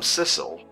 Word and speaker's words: Sissel: My name's not Missile, it rhymes with missile. I'm Sissel.